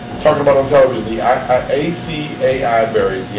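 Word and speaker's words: açaí: The ACAI berries, the IKEA berries. Yeah, IKEA. Someone saying it right.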